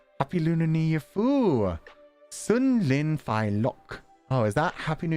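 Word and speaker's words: 新年快樂: So thank you for giving me the pronunciation guide, because I would have just read that again as Xin Nin Kuai Lo. So, Sun Lin Fai Lok.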